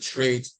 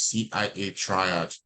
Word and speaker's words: CIA triad: trains or trials yeah some call it trade or the correct pronunciation is Cia Triad uh we are going